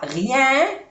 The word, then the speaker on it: rien: Je ne vois rien dans le jardin. Vois, igualmente, no se pronuncia la S. Rien. I-E-N se pronuncia rien.